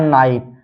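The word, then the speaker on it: night: H silent रहता है इसी तरह है नाइट नाइट में आप देख सकते हैं आई के बाद जीएच टी आया है तो यहां पर जी एचटी में जीएच साइलेंट है नाइट पढ़ा गया इसी तरह है फाइट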